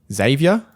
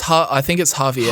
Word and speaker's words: Javier: In terms of her replacement, how do you pronounce his first name? Xavier? Hang on, where are you? Javier? I think it's Javier.